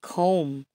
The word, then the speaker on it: comb: let's move on to words with silent B comb crom doubt Dom Lim okay let's read it